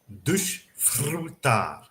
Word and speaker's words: desfrutar: And then at the end, dar, we have a standard T sound with a kind Okay. of pressed A, accented A, and again a rolled R. Desfrutar.